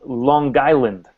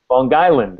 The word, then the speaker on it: Long Island: Try it again. Long Island. Long Island, yeah, that's it. Is that the connect? Connect four. Is that the connect pronunciation? Yeah, that's it. That's the way. Long Island. So I've been putting the emphasis on the wrong syllables. Well, you're using too perfect English.